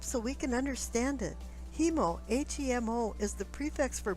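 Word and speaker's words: haemo: The Latin prefix for blood is H-A-E-M-O, hemo, and in Greek it's haema, and sometimes it's spelled with a H in front of it. These were then modified to hema and hemo in English.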